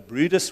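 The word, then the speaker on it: Bryde's: It's called a Brutus Whale. It's spelled Bride's Whale.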